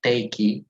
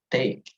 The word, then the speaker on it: take: in the word take we do not pronounce the e not taki but take also in the word bridge